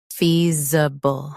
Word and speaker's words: feasible: Feasible. Both US and UK have the same pronunciation of this word. Stress fee. Keep z soft, then b quick.